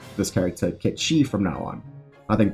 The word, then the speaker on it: Cait Sith: But director Naoki Hamaguchi has come out and said that it is actually pronounced Ketchi. So in respect to him, I'm going to call this character Ketchi from now on.